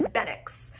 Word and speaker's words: Bennix: his full-time name, is Benix, which is B-E-N-N-I-X. It's extremely close to Benelux.